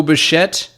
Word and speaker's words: Bichette: You got Bo Bichette is Brazilian? Apparently. Bichette, why do I think that sounds like French? Yeah. Bo Bichette. Yeah. Yeah. Italian, maybe? Bichette, maybe it's because it rhymes with baguette.